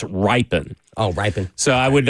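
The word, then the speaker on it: Rypien: We're we're uh supposedly I'd have to fact check this, but mispronouncing uh Brett's last name. It's not Ripian, even though it's totally spelled that way. It's ripen.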